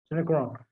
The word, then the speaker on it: Synechron: With Synechron, how do you pronounce it, Umesh? Synechron.